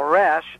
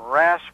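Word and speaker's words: raash: hebrew letters and it's spelled r a a s h now rash is a hebrew word you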